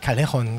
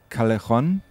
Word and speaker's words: Callejon: Also der gängigste kleine verzeihliche Fehler ist natürlich Callejon, Doppel-L, Mallorca halt.